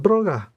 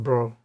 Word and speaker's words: Brough: Braga Mr. Braa, I have heard my name pronounced a lot of ways. I recognize that as a Mongolian pronunciation, I am Mr. Bro, he said.